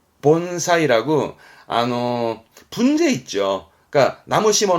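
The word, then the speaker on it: 盆栽: 시험적으로는 이걸 아셔야 돼 분재 분재 심을 제자인데 발음은 본사이 본사이라고 분재 있죠 그러니까 나무 심어 놓은 분재 그거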